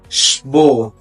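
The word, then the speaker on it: Sport: يعني مدرسه معانا هنا مقطع الاس سي اتش نطق ش الكلمه اللي معان بعد كده شبوت شبوت يعني رياضه معانا هنا مقطع الاسم بيتنطق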